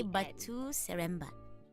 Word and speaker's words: Batu Seremban: Okay, Batu Seremban.